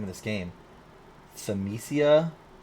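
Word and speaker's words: Thymesia: name of this game semesia t-h-y-m-e-s-i-a thiamesia i don't know if i'm pronouncing that right but yeah you look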